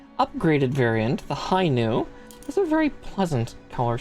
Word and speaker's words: Nu: I should probably show how the Nu Gundam is spelled. It's one letter. It's one Greek letter. Nu. Yeah, no, it's not dog themed. It's Greek. The letter Nu.